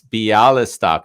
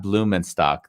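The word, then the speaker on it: Białystok: see i'm being corrected it's bialystok not blumenstock thank you sarah she's correcting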